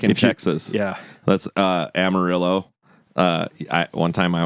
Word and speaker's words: Amarillo: That's uh Amarillo. Uh I one time I was like I I I had gone through Amario and they're like it's Amarillo. Yeah.